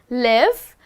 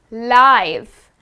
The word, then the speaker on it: live: l i we e but guess what the pronunciation is different we are not saying live but we are saying live and what does that mean well the word